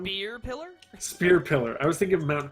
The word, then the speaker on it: Spear Pillar: Mount Pillar? Well, what else is it? Did I say it wrong? Spear Pillar? Spear Pillar.